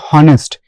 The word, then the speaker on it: honest: here honest so how what is the initial sound when you are pronouncing the word honest it's actually a vowel sound a sound right Honest it's not honest it's honest and that's why we